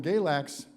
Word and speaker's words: Galax: Their newest album, Galax, which I'm one of the few people in Pensacola that can pronounce it correctly because I am from Virginia,